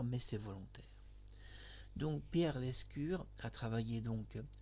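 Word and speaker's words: Lescure: Pierre l'escure. Moi je prononce Pierre l'ascure dans l'émission. Oui, des fois vous avez pu constater que je change un tout petit peu le le nom des personnes.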